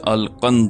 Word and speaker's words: القند: کا نام بھی لکھا۔ نام القنز تھا، جس کا تلفظ القند ہے۔ وہ مصری مسلمان تھا،